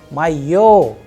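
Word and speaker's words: моё: so in case of where is the udar the stress as per the concept which we just discussed in the previous part will always be on yo O that is why the pronunciation is my yo to my yo means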